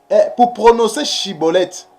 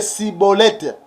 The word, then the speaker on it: Schibboleth: Parce que les Éphraïmites, ils avaient des difficultés pour prononcer Chibolette. Et ils prononçaient que Cibolette.